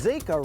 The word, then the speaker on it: jika: You know, when I first started hearing about this rig, I heard it pronounced Zika, Jika, Jri Rigg, Heeka rig. And I finally found out from some Japanese friends of mine, Cheniki and Mayu Fukai, that it's it's Zika rig, but it's just a